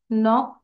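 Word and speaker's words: knock: লাভ দেওয়া jump jump নক এটা কিন্তু কে টা সাইলেন্ট থাকবে নক কে এন ও সি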